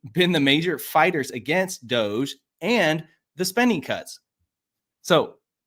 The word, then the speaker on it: DOGE: He started out his address by complimenting Musk and his work at Doge. I finally said it right. I didn't say dog. I didn't say Dodge like I normally do. I finally said Doge.